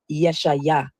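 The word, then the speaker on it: ישעיה: The funny thing about the name Isaiah is many people don't know that the true Hebrew pronunciation of Isaiah is Yeshaya or Yeshu.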